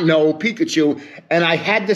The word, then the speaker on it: Pikachu: did somebody not know Pikachu and I had to say to them it rhymes with mikachu so this is Grandpa